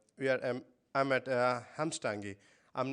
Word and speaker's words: Hvammstangi: be here and we are I'm at uh hamstangi I'm not sure if I'm saying it right if you could correct me please please do so no that was close it will close it's called the crumbs donkey so it was almost at it right okay